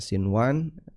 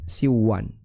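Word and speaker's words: صنوان: Seperti kata sinwan ya. Sinwan kita bacanya sinwan bukan siwan ya. Walaupun di sini ada nun mati ketemu dengan wau.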